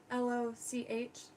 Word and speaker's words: Loch: or LOCK, like Loch, L-O-C-H, I could hear Snappo in the back of my head, like, you're pronouncing it wrong. Loch. Code Loch. I'm not making fun. That's just how it's pronounced.